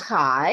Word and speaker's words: CHAI: little bit about chai sure it's pronounced high and it's community homes